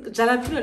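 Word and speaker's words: jalapeño: jalapeno and give this j is silent right because jalapeno doesn't sound like it makes sense it's jalapeno jalapeno the jalapeno one guys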